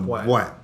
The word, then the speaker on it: boîte: Spell it, please. Well, I'm going to B-O-I-T-E. B-O-I-T-E. A bwat. A bwat.